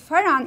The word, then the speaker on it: Faran: because pan Which is pronounced as faran in Arabic was one of the